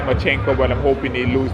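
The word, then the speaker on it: Lomachenko: world right now i i also like um machenko that's that's how you pronounce his name um i like him as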